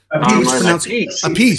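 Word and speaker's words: Appice: You got a new album with King Kobra, of course, with the Apice, or the Apice. Is it Apice? Carmine Apice, Alan? A piece, according to Rod Stewart.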